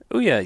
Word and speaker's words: Ouya: Okay, how do you pronounce this? Is it Ouya? Ouya, yeah.